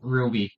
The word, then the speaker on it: RWBY: Oh, it's RWBY, but it's pronounced Ruby even though it's a W.